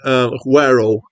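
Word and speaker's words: Güero: Now, apparently, Guero, which apparently is how to pronounce this, means whitey in Spanish.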